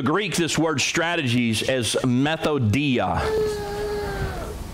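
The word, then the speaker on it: μεθοδεία: this word strategies as methodia methodia well you ought to get a clue right off the first the first syllable is meth anybody that is messing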